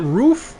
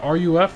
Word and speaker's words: Ruf: my god the favor is it roof right the ruf let's pronounce the roof i'm not too much